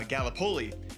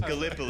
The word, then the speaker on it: Gallipoli: right because being from Iowa, I said uh Galipoli and it's it is pronounced Gallipoli.